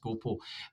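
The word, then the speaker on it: gå på: Um so go it's it's it's written as gapa but it's actually pronounced gopo.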